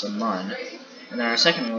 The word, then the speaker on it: Mun: We have Kerbin, we have the moon, or pronounced the Mun, and then our second moon, which is Minmus.